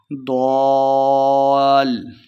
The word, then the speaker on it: ضالا: کریں گے۔ ووجدک ضالا، ضاد کے اوپر مد ہے، اسے لمع کرنا ہے۔ لام مشدد ہے اور ضاد کو ہم نے لام کے ساتھ ملا کے بھی پڑھنا ہے۔ ضال، ضال، لن اخفاء کا قاعدہ ہے، غنہ بھی کرنا ہے۔ ضالا فہدی ووجدک عائلا